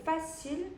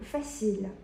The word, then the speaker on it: facile: 이렇게 쉬운이라는 형용사가 있는데 이거를 초반에는 뭐 facile, facile 이런 식으로 발음을 했어요. 그런데 사실은 조금 더 프랑스어식으로 발음해보면 뭐 facile, facile 이런 식으로 약간의 차이가 느껴지시죠?